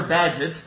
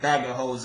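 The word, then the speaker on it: Bagehot: we have really Seen It All Before Walter badget but you are allowed to pronounce it bagos if you like Lombard Street a description of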